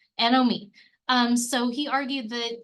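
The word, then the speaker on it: anomie: a breakdown of these social bonds and values anom me you know it's kind of a weird word it's spelled a n o m i e Nom me um so he argued that you know Society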